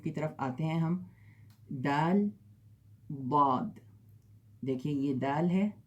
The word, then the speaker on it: دال: اور یہ ہے دال، اس کا تلفظ ہے دا.